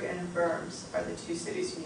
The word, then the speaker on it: Worms: It's just because they're German, you pronounce it as a V. Wittenberg was where he was a professor of theology and preached. Worms was where the trial